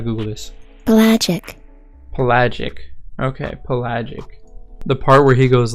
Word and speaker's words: pelagic: Okay, pelagic.